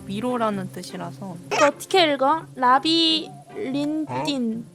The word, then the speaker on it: Labyrinthine: 라비린딘 라비린스라고 읽으면 돼요.